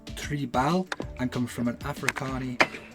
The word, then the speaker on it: Tribaal: review although the stick brand name is actually pronounced Tre Bal and come from an africani and Dutch word for tribal I will only mispronounce it and so I am going to keep referring to it as tribal hockey despite the longer stick I found it